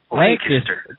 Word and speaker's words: Lancaster: How do you pronounce Lancaster? I've been told it's actually Lancaster.